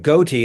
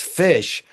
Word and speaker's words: ghoti: He said, how do you pronounce GHOTI? And everyone would say something like goatee. And of course, his response was, no, it's fish. GH as in tough, O as in women, TI as in nation.